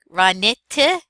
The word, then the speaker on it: ranitidine: All right, so this is ra, like cobra. Ni, from knit, ra ni. Ticket, tick, ranitidine. Ranitidine.